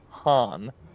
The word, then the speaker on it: Khan: in German comes from, but I never heard one call a Khan Han. Huh. K is silent?